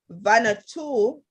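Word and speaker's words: Vanuatu: said good morning panel kikis are watching from vanna too as i pronounce it she said v-a-n-u-a-t-u where is that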